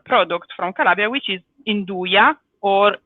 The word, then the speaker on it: Nduja: And it goes perfectly with a typical product from Calabria, which is Nduja or Nduja, if you want to call it in the dialect way, with a dialect pronunciation.